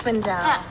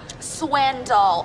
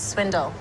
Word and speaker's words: Swindle: me a room here yes Miss swindel Swindle Accent on the front house my apologies Miss Swindle yes I've got you